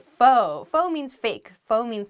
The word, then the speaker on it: faux: next word is faux fo has an x at the end when it's spelled on paper but we do not say folks we don't say that we say fo fo means fake faux